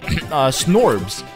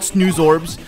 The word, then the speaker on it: Snoozorb: These guys are called Snorbs or Snoobs. Yeah, Snoozorb. Okay, I don't know why I couldn't pronounce that, but they're called Snoozorbs.